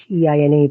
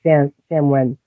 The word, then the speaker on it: Samhain: Like we're coming upon Halloween, which is also, I always say this wrong, Samhain, I think it's Samheine, but it's pronounced like Samhain.